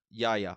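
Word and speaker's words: Yahya: Yaya? Okay, that's what I thought it was. I don't remember his last name, but it's Yeah. It's Mateen, I think. I wrote down Mateen. Yaya as Black Manta, fantastic job as well.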